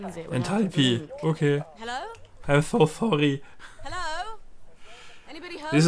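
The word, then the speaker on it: Enthalpie: Pi, nicht Vieh. Enthalpi.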